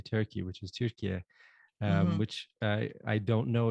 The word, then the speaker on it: Türkiye: How is it in Turkish? Türkiye. Turkey.